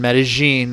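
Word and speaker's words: Medellín: I spent the first half of the time in Medellin. That's how they say it over there.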